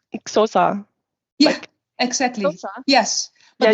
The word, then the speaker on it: Xhosa: It's Xhosa. Yeah, exactly. Xhosa? Yes, but they even pronounce that word in a way. Exactly. You even have to click while saying the word, and I can't do that.